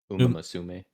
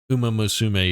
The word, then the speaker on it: Uma Musume: How do you pronounce it? Uma Musume. Uma Musume, yeah.